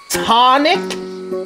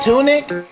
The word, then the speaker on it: tonic: homie in the comments apparently I've been saying it wrong it's tonic I think he said it was instead of tunic I don't know where